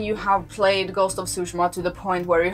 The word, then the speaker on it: Tsushima: I used to say Tsushima, but I think it is pronounced like Tsushima.